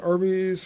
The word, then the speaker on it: Arby's: They chose the name Arby's. Phonetic pronunciation of the letters RB, short for Raphael Brothers.